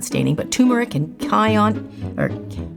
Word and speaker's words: cayenne: I use like turmeric and peppers, not staining, but turmeric and cayenne, or how do you say that?